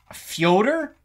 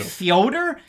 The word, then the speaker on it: Fyodor: Fyodor? That's how Ariel Hawani says it. You pronounce everyone's names the right way, so I'm trying to do the same.